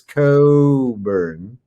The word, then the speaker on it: Cockburn: set to correct you it's Coburn there's a Scottish Clan the Coburn climate and somehow they got people to stop pronouncing that CK don't ask me why